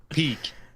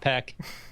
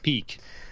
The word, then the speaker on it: Peeq: automation system called I'm going to let you pronounce it because I can't. Peak. All right. Peak. Not Not Peek. Peak.